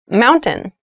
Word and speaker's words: mountain: Keep in mind when you pronounce this word in fast speech, it sounds like mountain. The T sound is reduced.